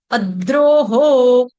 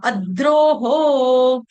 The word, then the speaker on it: अद्रोहो: अद्रोह हो अद्रोह अद्रोह double the का उच्चारण कर रही हूं एक आधा द हलंत अ उसके बाद द्रोहो अ द्रोहो अ द्रोहो